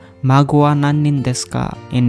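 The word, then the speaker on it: 孫: The pronunciation is mago. We call mago. Mago wa nannin desu ka?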